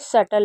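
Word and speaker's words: subtle: जैसे डाउट डेप्ट और जैसे सल वैसे इसे इसमें बी भी साइलेंट होता है तो इसे सटल पढ़ते हैं।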